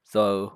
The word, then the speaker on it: though: means you have stupid words like so which are spelled t h o u g h when they when there's no need for the last part three letters of the word that are not pronounced or the last two letters that aren't pronounced because the sound doesn't even exist in english anymore so there's